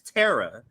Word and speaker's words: Tara: So, but yeah, Tara is the pronunciation.